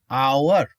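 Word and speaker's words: hour: আবার দেখো I will come after, দেখো তো বন্ধুরা এইস এর উচ্চারণ এখানে কি হচ্ছে অ, অ আওয়ার, আওয়ার, তাহলে এখানে এন হবে।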